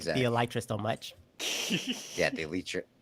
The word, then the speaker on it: Elytra: It's Elytra. It's pronounced Elytra.